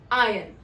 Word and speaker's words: iron: The correct pronunciation, however, would be iron, where R is silent.